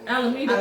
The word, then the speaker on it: Alameda: A lot of people be like, if you go to this dealership on Alameda, how do you say it? Alameda.